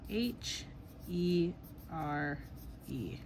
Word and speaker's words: here: And that last e is silent.